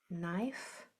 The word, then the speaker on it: knife: Do you see that KN? That's a silent letter pair. It's a very old English word, a very old English way of spelling that we have just kept on. The K is silent. You only hear the N.